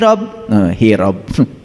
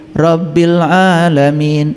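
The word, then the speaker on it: رب العالمين: Makanya alhamdulillahi dengan rabbil alamin itu harusnya terpisah. Dan kita selama ini membacanya sendiri sudah kacau balau. Alhamdulillahi rabb, hirob. Hirob itu perang, makanya Anda perang terus.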